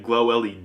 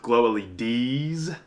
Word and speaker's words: Glow-LEDs: that i kept saying glow led in my last video and apparently it's pronounced glow leds with a plural so sorry kurt okay